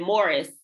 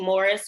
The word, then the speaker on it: Maurice: View, Howard's End, and Morris, which if you are looking up the movie Morris, you're going to have to spell it like Maurice because it's spelled Maurice.